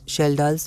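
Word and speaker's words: Kjeldahl: अगली वीडियो में method 2 estimation of nitrogen में जो शेल्डाल्स मेथड होता है, ठीक है, इसको हम शेल्डाल्स प्रोनाउंस करेंगे।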